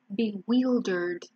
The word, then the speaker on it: bewildered: It's bewildered. It's not wild, wheeled, bewildered.